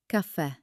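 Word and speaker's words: caffè: That's when you see a little mark over the last letter, the aento. This mark is a command. It tells you to hit that last syllable with extra energy. Let's try some common words where the accent is king. Repeat after me. Cafe. Perk. Univers. Notice how cafe sounds much more energetic than the English word coffee.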